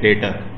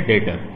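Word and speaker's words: debtor: और जब जो कस्टमर होता है उसे अकाउंटिंग की जबान में ख़ास नाम देते हैं, उसे कहते हैं डेटर, बी साइलेंट है डेटर।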